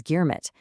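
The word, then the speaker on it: girmit: Because they couldn't speak the language, they mispronounced it as germit.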